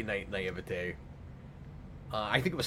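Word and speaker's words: naïveté: I don't think that's how to pronounce that. Yeah, no, that's how you say naivete.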